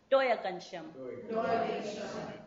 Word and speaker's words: Doyagenshim: Now we have a clear agreement about the way to pronounce the plural for thank you. Doyagenshim.